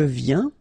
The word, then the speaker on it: viens: Final S not pronounced, okay, and when you combine this IEN, you get this yin, yin.